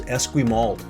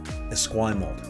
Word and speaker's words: Esquimalt: victoria victoria proper sorry people often pronounce this as esquimalt or esquimal this is esquimalt esquim mold it's a lovely area too